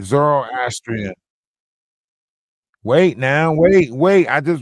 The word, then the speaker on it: Zoroastrian: Zoroastrian. Wait now wait. I just wanted you to pronounce the word for me.